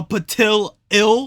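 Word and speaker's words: Petilil: And you mean to tell me this thing is called a Patil-ill? What even is that? I've been saying it wrong for so many years.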